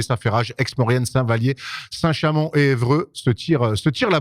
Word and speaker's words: Saint-Chamond: Tout à fait, t'as dit Saint-Chamond, je suis un peu déçu, Erwan. C'est pas comme ça que tu prononces d'habitude. À Saint-Chamond. Tout à fait. Voilà, là, je préfère.